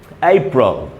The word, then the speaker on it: April: तो दोस्तों इसका एक ही उच्चारण है, और वो है अप्रैल, अप्रैल, अप्रैल, अप्रैल। इसमें जो स्ट्रेस है दोस्तों वही है, जहाँ जहाँ स्ट्रेस है वर्ड में वहाँ मैंने अंडरलाइन किया है।